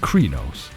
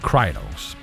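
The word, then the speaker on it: Crinos: the classic werewolf form also known as Cree nose or cry nose based on how you pronounce it as well as lupus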